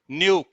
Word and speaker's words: knew: न्यू, KNEW, KNEW में के silent है, उसको पढ़ते हैं न्यू।